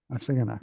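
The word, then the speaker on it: Assiginaak: with Ravel, and help me out with the pronunciation of the name, Barbara Uh, Hassan. a, si- Uh, a Siganak. Asingana, yeah.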